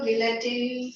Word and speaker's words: guillotine: So, it is given that textbook itself, guillotine is Actually, a. L is silent.